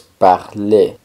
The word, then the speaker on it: parler: Hablar, como habíamos visto, es parler. Parler. La R del final no suena, solo suena la E.